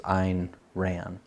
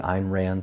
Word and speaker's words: Ayn Rand: I've heard her name pronounced differently, but most of the time that's how I hear it pronounced, is Ayn Rand.